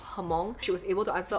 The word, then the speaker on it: Hmong: I was saying Hmong the whole time, but she herself says Hmong, so I'll just go with her pronunciation of Hmong.